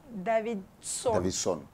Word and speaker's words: Davidson: prononcer ne tɔgɔ ma gɛlɛn Davidson c'est simple Davidson ok ne bolo David yi me prononcer cogoya wɛrɛ ne fɔ anglais wala Davidson